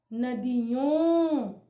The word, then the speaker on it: नदियों: लेकिन आप उच्चारण में देखें, क्या इसका उच्चारण अन आ रहा है? नहीं आएगा। इसका उच्चारण आएगा नदियों।